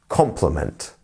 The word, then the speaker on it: compliment: that means means that this first syllable is the one that we stress compliment compliment not compliment not compliment it's compliment very good um and